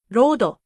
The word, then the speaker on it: ロード: The English L and R become the same sound. Light becomes raito. Road becomes rodo.